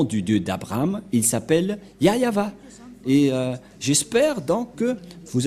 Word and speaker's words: Yahvah: voit rien et donc c'est bien la vraie prononciation de son nom yayava voilà le ya et voilà la suite après